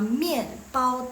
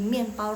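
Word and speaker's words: 面包: Yang belakang itu bacanya pao. Mien sama aja. Jadi mien itu mie sama mien pao de mien pao.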